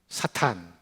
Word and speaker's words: 사탄: 몸 하나는 빠뜨렸지만 사탄이에요 옛날에는 사단으로 번역했지만 요즘은 소리 나는 그대로 사탄으로 번역했어요 영어로는 saton으로 발음합니다 우리말로는 사탄 히브리어로도 사탄 우리 발음이 더 정확합니다 하나님께서 세종대왕을 잘 쓰신